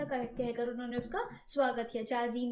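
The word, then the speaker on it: 茶人: यहाँ पर spelling mistake है बट वो चाजीन है।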